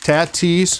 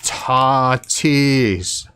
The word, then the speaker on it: Tatis: a he hid a tattis one of one out of this product fernando tennis fernando tetus his name is pronounced tatis oh that's right my